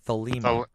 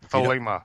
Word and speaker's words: Thelema: It's the law of Thelema. Thelema.